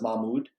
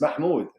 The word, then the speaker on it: Mahmoud: I'm pretty sure I put, but even on social media, as of recent, my real name is Mahmoud, Yeah, pronounced by most people as Mahmoud.